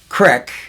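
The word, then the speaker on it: CREC: and his uh the group that he runs, the acronym is Crick, which I think is C R I K. No, it's C R E C, but Crick. Okay. Okay. Crick.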